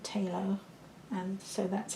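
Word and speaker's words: Phthalo: I like Talo colours, that's spelt with a P, but my teacher always pronounced it Talo, and so that's how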